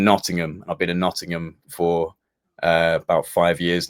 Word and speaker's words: Nottingham: and I've been in Nottingham for uh about five years now the Americans call it notingham not Nottingham we call it Nottingham is how you guys